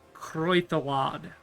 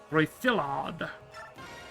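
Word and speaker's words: Creiddylad: Cradle Lad is Welsh, also from Arthurian legend. It would be pronounced Croithalad. Gotcha. Croithalad. Emphasis on the thill.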